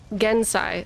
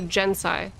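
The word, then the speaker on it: Genzai: chiro but then gai G NS a I correct gensai so it wouldn't be jensai japaneses really like ads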